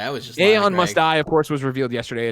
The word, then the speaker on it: Aeon Must Die: Is it Aeon Must Die? Is that how I pronounce that one?